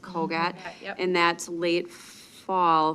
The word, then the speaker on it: CogAT: And then they have the COGAT, is that how that's pronounced? COGAT?